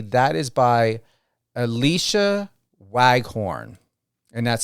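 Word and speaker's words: Alysha Waghorn: hope I pronunciate this correctly that is by Alicia waghorn and that's spelled a l y s h a last name w a g h o r n Alicia waghorn that's my opening thought and suggestion and love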